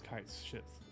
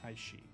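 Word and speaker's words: Cait Sith: I know it looks like it's Kite Sith, but it's actually pronounced Kaishi.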